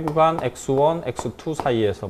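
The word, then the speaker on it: ξ: x2 사이 됐나요 아 이것 사이 라고 읽어요 예열 그리스 문제인데요 이거 이렇게 써요 읽을 땐 즉 사이 그 사이 라고 이걸 아 쌀 타고 그냥 c 라고 하셔도 돼요 c 라고 하셔도 되는데 그 사이 라고 읽어야 자 아 이런걸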